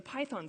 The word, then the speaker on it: Python: So a 1 is a stressed syllable, Python. A 0 is an unstressed syllable, and this indicates that we say it Python and not Python.